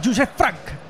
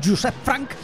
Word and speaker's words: Joseph Frank: Ojo porque entra Joseph Frank. Hay que decir Joseph Frank porque en la guía de pronunciación es así. Es así, él lo dice así, así que habrá que creerle.